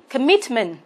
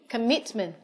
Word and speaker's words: commitment: B, commitment. C, recipe. Và D, instrument. Vậy chúng ta khoanh vào B, commitment. Vậy commitment có trọng âm 2.